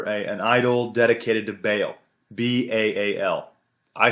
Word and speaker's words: Baal: B-A-A-L. I say Baal. Apparently it's pronounced Baal.